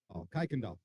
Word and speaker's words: Kuykendall: They're saying it's pronounced Kuykendall. Right now we've got Hayden Watkins, followed by Jason Law from Alta High School.